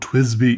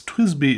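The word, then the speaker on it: TWSBI: twisby eco but uh in my defense twisby is a weird word as you can see how it's really supposed to be spelled t w s b i uh that's just how i pronounce it i'm not sure if that's even supposed to how you're supposed to say it twist be i have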